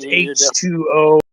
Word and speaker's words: H20: It is pronounced H2O.